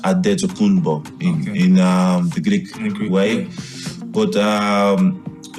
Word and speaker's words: Antetokounmpo: Giannis Antetokounmpo, and I know that I just said it wrong because I'm used to saying it that way, explained what his name actually is. Your name is Adetokounmpo. Yes. Adetokounmpo.